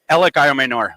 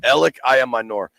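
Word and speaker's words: Elic Ayomanor: the Stanford receiver which I have no chance pronouncing his name say it again El I Amor ell I Amor um I'm looking at a recent article you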